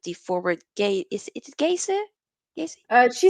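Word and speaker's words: Geyse: And like you said, with the forward gay, is it Gaze? Gaze? She said it's pronounced Jace.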